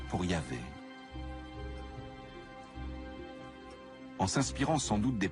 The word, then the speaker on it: Yahvé: Dans l'un des récits, Abraham appelle Dieu par son nom propre, qu'on prononce traditionnellement Yahvé.